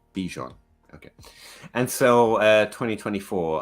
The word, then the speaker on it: Bijan: say this name properly Bijan B pronounce the b got it no Bijon okay and so uh